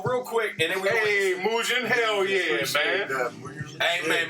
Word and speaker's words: Mugen: So his name is pronounced Mugen. Mugen is the character, one of the characters from Samurai Champloo.